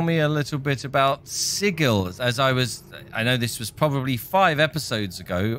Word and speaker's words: Sigil: So, can you tell me a little bit about Sigil? I know this was probably six episodes ago. I was told that it's pronounced Sigil and not Sigil.